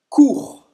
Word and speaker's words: court: Não pronuncia o T, não pronuncia o S. Acaba no R.